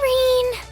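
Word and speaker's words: Rean: Oh, Rain. Your name rhymes with bean. Very well. I just said Ryan.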